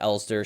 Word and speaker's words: Elster: booting sequence as you awaken as eler uh pronounced elster spelled LS I believe yeah well the the